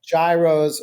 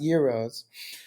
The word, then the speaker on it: gyros: And we got to Greece and we just went nuts with gyros, or as they're actually pronounced, gyros, which I think is more well known.